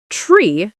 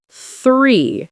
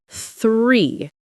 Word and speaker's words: three: For example, many learners say tree instead of three. Yeah, the th sound is difficult. It is. You have to put your tongue between your teeth. Th, like three.